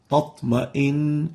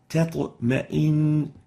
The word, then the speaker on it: تطمئن: Because a velarized letter comes after the ta, it makes the person tend to make it also velarized. And it ends up with a double ta, tatma'in, and this is wrong. The right way of pronouncing it is تطمئن tatma'in, a clear ta and a clear ta. The first one is not velarized, it's attenuated. The second one, which is the ta, is actually velarized.